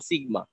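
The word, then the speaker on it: σ: এটা হচ্ছে আদর্শ বিচ্যুতি বা পরিমিত ব্যবধানের, এটাকে আমরা উচ্চারণ করব সিগমা, এই সিম্বলটাকে স্ট্যাটিস্টিক্যাল ভাষায় এটাকে সিগমা বলে।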